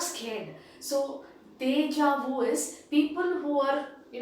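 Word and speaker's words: déjà vu: it says deja vu the word there is deja vu in that is the word you know spelling but then the pronunciation is deja vu now what is deja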